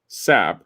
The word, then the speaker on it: Psapp: The experimental British duo Psapp, that's how it's pronounced.